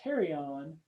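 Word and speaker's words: pterion: this region called the terion the p is silent like pterodactyl um it's kind of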